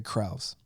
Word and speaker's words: Krause: Yeah, let's not single out Jerry Cross. I mean Jerry Cruz. I think I said his name wrong. Krause. But let's not single him out either.